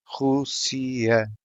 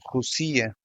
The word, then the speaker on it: Rússia: You might be thinking what's the point of having an accent on vowel U if the sound does not change? The reason is to set the stressed syllable, and without it the word would sound Rusia.